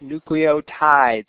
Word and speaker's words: nucleotides: the nucleotides are pronounced nucleotides is in tide like the laundry detergent right because there's also